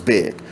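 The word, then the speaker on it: Baye: how to spell but then bi is spelled b-a-y-e look up these places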